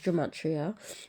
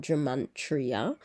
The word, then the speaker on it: Gematria: I was pronouncing it wrong and someone mentioned it in the comments. So yes, I was saying it completely 100% wrong, but it's Gematria, not Gematria.